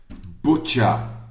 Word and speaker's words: butcher: tell her to to speak to me okay butcher so if you got that correct you get